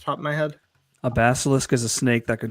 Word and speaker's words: basilisk: uh in response to Corinth's AI cult ask him if he knows about the basilisk theory. Basil basilis basilis theory basilis a let me spell it b a s i l i s